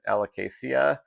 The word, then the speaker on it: alocasia: to grow but um how do you pronounce the word alocasia? Um I think that's probably the most common pronunciation but I will also hear people pronounce it alicacia um where they are kind of hardening those those vowel sounds a little bit differently.